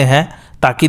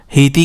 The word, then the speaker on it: Haiti: तो या तो पूरा सर ही काट देते हैं या फिर किसी भी वेपन से दिमाग पर ज़ोर से मार सकते हैं ताकि दिमाग काम करना बंद कर दे।